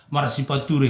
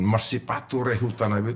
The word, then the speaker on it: Marsipature Hutanabe: Tapi Bung Firdaus jangan salah, intonasi, pronunciation Marsipature Hutanabe itu berbeda dengan orang. Ada yang Marsipatu, ya pakai sepatu, mungkin karena banjir. Marsipature sama-sama membangun kota gitu loh.